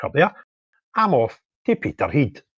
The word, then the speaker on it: Peterhead: I'm off to Peter Heed or Peter Head as our English friends pronounce it for their United Protest, which is at Drummer's Corner at 12 noon.